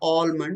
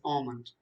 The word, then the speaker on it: almond: with regard to pronunciation suppose you don't know how to pronounce a l m o n it is not almond it is almond you might realize the